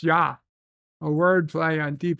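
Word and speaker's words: ja: as in German J means yes and it's pronounced yah a word play on Deep Space Nine ah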